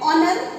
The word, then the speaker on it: honor: And honor. Here also the same. H is silent, and we read the word from o n o u r.